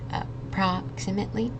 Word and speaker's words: approximately: So this word is pronounced approximately. So emphasizing on that second syllable.